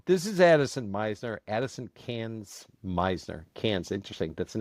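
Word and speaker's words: Cairns: And the Aussies pronounce it Cans. Even though it looks like Carns.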